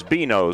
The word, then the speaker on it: Benoit: It is Beano, so I wasn't that far off. Like Beano Cook, Ward, if you're old enough to remember Beano.